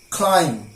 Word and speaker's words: climb: after em I repeat B is always silent when it is after em now some of you examples climb limb Tom dumb lame fuck'em